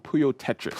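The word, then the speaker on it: Puyo Puyo Tetris: favorite game that's right how do you pronounce it hooyo Puyo Tetris oh you peel so it's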